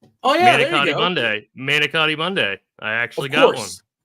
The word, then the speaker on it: manicotti: But is it shameful that I don't know what how do you pronounce that one more time, if you don't mind? Manicotti.